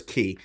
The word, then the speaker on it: Qi: So I think it's Key or Kai. I'm pretty sure it's Key.